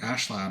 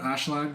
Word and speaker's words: Askeladd: Also, actually, it's pronounced like Ashlad, right?